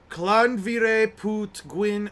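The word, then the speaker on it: Llanfairpwllgwyngyll: Okay, it's pronounced Clanvire Put Gwyn.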